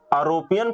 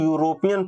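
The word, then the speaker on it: European: ये बताओ यहाँ पे यूरोपियन, आरोपियन पढ़ते हो कि यूरोपियन पढ़ते हो। यहाँ पे यूरोप, यूरोप आरोप नहीं पढ़ा जाता है, यहाँ पे पढ़ा जाता है आपका यूरोप।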